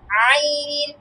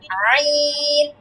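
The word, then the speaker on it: عين: একটাতে নক্তা আছে এইতো ক একসাথে বলতো দুইটা উচ্চারণ আবার বল জ আচ্ছা তারপরে আইন জ এর পরেরটা আইন এটা কোথায় থেকে উচ্চারণ হচ্ছে জানো গলার মাঝখান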